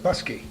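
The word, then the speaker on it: Bousquet: B-O-U-S-Q-U-E-T, Oh, Busquet. But that's another name. That's another name, Busquet. but they pronounce it Busky.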